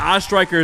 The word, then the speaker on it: Striker: Now, Striker is how I pronounce this thing, right? I'm saying it earlier. You got it.